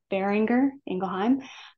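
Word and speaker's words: Boehringer Ingelheim: and that's the way you say it is bearinger engelheim um there's a lot of different pronunciations um bearinger for the bearinger family engelheim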